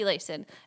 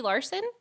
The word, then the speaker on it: Layson: give me I say my name is Layson. And the guy, he goes, oh, okay, Larson? And I go, no, there's no R.